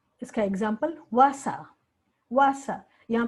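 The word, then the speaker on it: Wasser: बुलाते हैं तो वासा, वासा। यहाँ पे उच्चारण वसार लिखा हुआ है, पर जब हम ब्लेंड करके तेजी से बोलते हैं तो इसका वासा।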